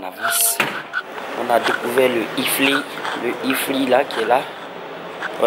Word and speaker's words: iFly: iFly. Donc j'avais du mal à prononcer.